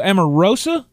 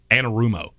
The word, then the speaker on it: Anarumo: Lou Amoroso? Amoruso? No, you're adding a syllable. Am I? It's Anarumo. Anarumo.